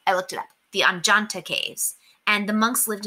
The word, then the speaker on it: Ajanta: Now, these caves are called oh no, I forgot how to pronounce it. Ajanta Caves. There we go. I looked it up. The Anjanta Caves.